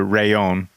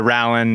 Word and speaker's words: Rallon: It is the Rayon. Not the Rallon, not the Rallon, but the Rayon.